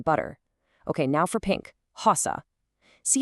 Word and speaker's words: rosa: Okay, now for pink, rosa. See how that R is right at the front of the word? That makes it guttural. It's coming straight from the back of the throat, rosa.